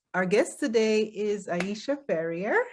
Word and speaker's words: Ferrier: So Aisha Ferrier, am I pronouncing that correctly? That's correct. That's is correct. it Ferrier or is it Ferrier? It's Ferrier.